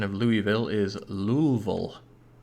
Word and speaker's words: Louisville: built anything there yet but a fun american pronunciation of louisville is louisville louisville why real maintenance acceleration i'm gonna take this